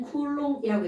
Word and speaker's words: 쿨롱: 곱하기 10의 마이너스 19제곱 전기의 단위는 c라고 쓰고 읽을 때는 쿨롱이라고 읽겠습니다 까먹어도 돼요 그럼 지금이